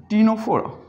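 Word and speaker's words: Ctenophora: बहुत अहम example, टीनोफोरा, यहां से स्टार्ट किया, टीनोफोरा। टीनोफोरा इज an animal phylum. ये एक एनिमल का ग्रुप है, एक्वेटिक हैं ज़्यादातर। टीनोफोरा।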